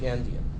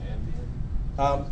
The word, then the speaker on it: endian: out to be big endian. It transmits the most significant byte first and not the least significant byte first. Okay. All right. How do you spell that? Andian? Endian as an end, E-N-D, endian.